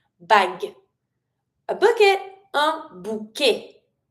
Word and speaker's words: bouquet: And really do emphasize the G sound, but don't pronounce the final e. Bag. A bucket. A bouquet. Bouquet.